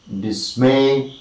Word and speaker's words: dismay: rule of word stress words of two syllables or d syllabic words take the primary word stress on the second if they begin with the prefix disks so in all this